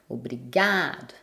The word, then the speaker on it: obrigado: Par exemple, obrigado, obrigada. Vu que c'est l'avant-dernière syllabe qui est la syllabe forte, on entend peu la fin et on n'entend pratiquement pas si c'est masculin ou féminin.